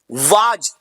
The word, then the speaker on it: was: वाज, WAS लोग वाज बोलते हैं, wrong pronunciation, the right pronunciation is वॉज।